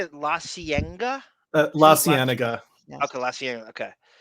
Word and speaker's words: La Cienega: La Cienega.